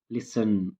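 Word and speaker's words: listen: ಲಿಸನ್, LISTN, T is silent here.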